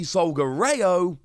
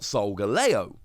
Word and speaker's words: Solgaleo: katakana, it is actually Solgareo, not Solgaleo. The R sound in Japanese is often translated and used over here as a L sound instead.